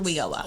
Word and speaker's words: WIOA: We call it WIOA.